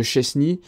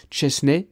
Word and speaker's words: Szczęsny: On le connaît tous sous le nom de Szczęsny, mais si j'ai bien compris, on le prononce Szczęsny.